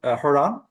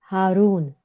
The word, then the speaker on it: Harun: Rosalyn or uh Sabah you can correct my pronunciation. Uh could you repeat again? Is it Har Rashid? Haron Harun.